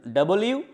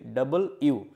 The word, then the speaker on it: W: কি আমাদের ইংরেজিতে দুটো সেমি ভায়েল আছে এক ডবলিউ আমরা ডব পড়ি ড সঠিক উচ্চারণটা হচছে কি ডবল ইউ ডব ইউ এবং ওয়াই আর কলড সেমি ভায়েল